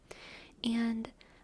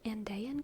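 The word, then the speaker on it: Andean: was looking into um I think it's pronounced andan cats or andian cats from like the uh South America a n d e a n cats I was looking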